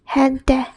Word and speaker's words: gente: Or if it's with e or e, then it's pronounced h. H. For example, gente. Gente, which means people.